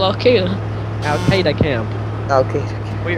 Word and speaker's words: Al-Qaeda: It sounds like you're saying Sega. That's how I used to pronounce Al-Qaeda. No, it's like a Star Wars saga, not Sega.